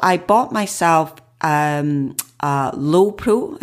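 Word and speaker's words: Lowepro: bought myself um a low Pro I think that's how you pronounce it l-o-w-e-p-r-o backpack I have to say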